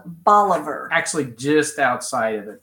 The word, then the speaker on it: Bolivar: the east side and it is spelled like said like all of her like our dog only has to be in the front and the instead of ER it's AR bolivar and it's it's county seat